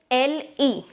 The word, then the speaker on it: le: Now, the first one is LE, which is le. It is written as LE, but the pronunciation will be le, and it means the, THE, as in English.